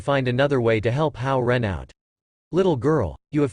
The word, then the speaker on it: Hao Ren: Reminder, the pronunciation of Hao Ren is very similar to the pronunciation of good person in Mandarin Chinese.